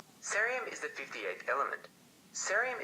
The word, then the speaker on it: cerium: Cerium is pronounced a bit like cereal.